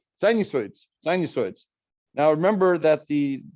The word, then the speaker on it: sinusoid: um but but the the way we read this is like a long u sinusoids sinusoids and along eyes sinusoids sinusoids um and these are